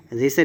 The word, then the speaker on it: ऋषि: है, ओष्ठ होता है, रा शा का उच्चारण मूर्धन्य होता है, ऋषि ऋषि रा नहीं, ठीक है, ऋषि ऋषि